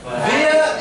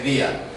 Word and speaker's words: via: Via is more American. They tend to say via. But the British, they say via. That's another difference. But this time it's a difference in pronunciation. Before, we saw a difference in spelling. So sometimes it's written differently, sometimes it's pronounced differently. So here it's a difference in pronunciation, and we say via.